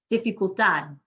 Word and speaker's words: dificultad: The D is a consonant other than N or S, we're going to emphasize the last syllable, dificultad.